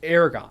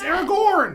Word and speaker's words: Aragorn: It's Aragon.